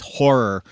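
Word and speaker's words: HO99O9: I actually saw open for three teeth is horror which if you're gonna try to look it up on bandcamp it is spelled h09909 the O's are letter O um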